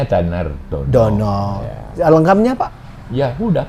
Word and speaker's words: Danardana: kalau Bacanya Danar Dono.